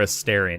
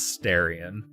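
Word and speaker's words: Astarion: a starian it is so the character pronounces it astarian like when he introduces himself to you he pronounces it a Starion however I do believe throughout the game you hear other people pronounce it as Starion so I think it's either I don't think it matters which way you say it I just like saying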